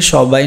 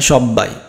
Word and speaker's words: সবাই: তারপরে সবাই, এই সবাই না সব্বাই, এটা কি সব্বাই, তাই না?